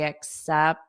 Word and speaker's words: accept: Should I accept the? Notice I don't pronounce this T on accept because I have a T right there.